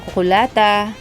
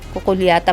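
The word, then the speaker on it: cucullata: Ayan, ito, kukulata. Kukulyata ba yan? Kukulata ang pronunciation.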